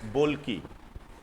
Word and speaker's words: Bolkiah: इनका नाम है हसनल बोल्की। हसनल बोल्की, अब प्रोनाउंसिएशन अलग अलग हो सकता है।